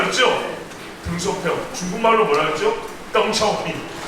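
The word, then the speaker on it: 邓小平: 덩차오핑.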